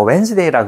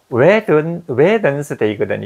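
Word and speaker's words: Wednesday: 이거 우리 수요일 갖다가 웬스데이라고 그러잖아요. 수요일을 웬스 W-E-D-N-E-S 이거거든. 이것도 웨든스데이거든. 이게 발음을 해야 돼요.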